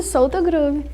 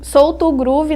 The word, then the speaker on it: Soultogroove: E é assim que pronuncia mesmo Solto Groove, não Solto Groove? Cara, quando a gente escolheu esse nome, a gente justamente pensou no lance abrasileirado do Solto Groove, mas escrevendo Solto Groove, que significa alma para entalhar.